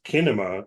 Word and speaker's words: Kinema: Seed and Spark, and I guess Kinema is how you say that because they spelled it with a K.